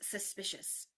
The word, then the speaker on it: suspicious: maybe the word is suspicious, right? So there's a lot going on in that word. Suspicious. Suspicious. There's three syllables there. The stress is on the second one. It's suspicious. It's not suspicious or suspicious.